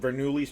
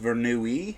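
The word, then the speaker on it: Bernoulli: It's called Verni's principle. Correct. Whoa. It's pronounced Vernui.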